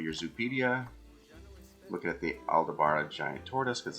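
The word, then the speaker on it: Aldabra: if we're looking at the tortoises they are aldebara that's how you pronounce it tortoise um it looks like they're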